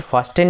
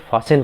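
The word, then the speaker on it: fasten: जैसे देखो ये हम इसे फास्टेन नहीं पढ़ते, हम इसे फासेन पढ़ते हैं, है ना।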